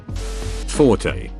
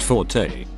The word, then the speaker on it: forte: the hilt forte pronounced forte is an italian adjective meaning loud strong but most people are exposed to that one first usually from music class so the two-syllable pronunciation gets used for both words but since it's one